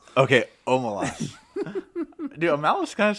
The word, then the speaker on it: Omelas: Am I Call it pronouncing that Omelas. wrong? No, yeah, it's Omelas. Okay, Omelas.